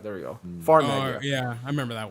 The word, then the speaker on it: Farmagia: I do not know how to pronounce it. Farmington. Farmagia. There we go. Farmagia.